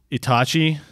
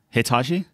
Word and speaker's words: Itachi: Itachi. Yeah. Hitachi? It's like ITACH Oh, Itachi. something. That's fine. I got it. Itachi. Yeah, It's like the magic ITACHI. wand, but without the H.